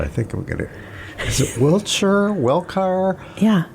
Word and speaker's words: Wilcher: I'm Wilcher, but a lot of people, especially in Indiana, say Welcher.